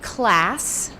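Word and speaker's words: CLASE: today about our project cultivating learning and safe environments pronounced class we should have made the e small and this is a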